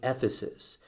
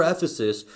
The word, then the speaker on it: Ephesus: pastoring at the church it rhymes with flephasis at the church in ephesus and we've already talked